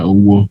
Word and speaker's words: Owuo: So today we have with us Owuo. Okay, that's the correct pronunciation.